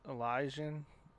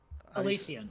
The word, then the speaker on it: Elysian: on your graphic that how do you say it up lies Elijah Elysian Elysian I do like that